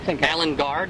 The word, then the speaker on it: Alan Guard: really want on there, we'll identify this by Alan Gard. Is that how you pronounce it?